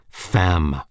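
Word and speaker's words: femme: Comer is a wretch fam woman rhymes with infam Infamous yes I have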